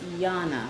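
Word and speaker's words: Jana: With sounds like a Y. Yeah, it's Yana. Yeah. That's my bad. No, it's okay because it's spelled with a J.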